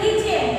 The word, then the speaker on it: listen: কথা বলা speak অর্থ কথা বলা এরপরে তো listen L I S T N listen টা কিন্তু listen এখানে কি উচ্চারণটা উচ্চ থাকবে কি উচ্চারণটা এখানে উচ্চ থাকবে